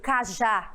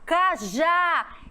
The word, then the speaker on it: cajá: E a letra D, cajá, cajá, é no já.